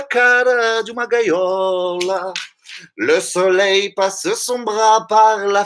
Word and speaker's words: soleil: Aqui, soleil, porque isso aí se pronuncia no final, ei, ei. Então, é soleil. É como se fosse um i que vai continuando assim. Como se fosse só i, alguns i's no final. I, entendeu? Soleil.